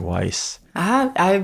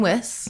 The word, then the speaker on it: Wyss: Oh man, I've been saying it wrong already. Like I thought it was like Weiss. People have called me Wyss my whole life, but it's actually Wyss.